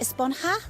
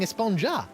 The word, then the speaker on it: Esponja: Actually, it's pronounced Esponja with an H sound at the end. Oh, God. But we've all been saying Esponja.